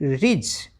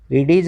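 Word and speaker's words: ridge: इडीज नहीं एज क्योंकि यहां पर तो डी साइलेंट है आर आई डी जी ई रिज इडीज नहीं रिज अब अगला शब्द देख लेते हैं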